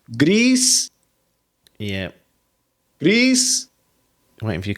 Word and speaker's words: Gris: of an accent and she went, Gris. And that's how I pronounced Gris. Yep. Yeah. It means grey in Spanish.